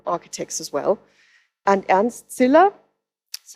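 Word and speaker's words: Ziller: in their own Architects as well and and Sila that's how he's pronounced um he was one of those people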